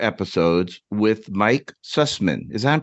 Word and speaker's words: Sussman: And co-wrote 4 episodes with Mike Sussman. Is that I'm pronouncing his name right? S-U-S-S-N? Absolutely. Sussman, he goes by Michael now, but he was Mike then.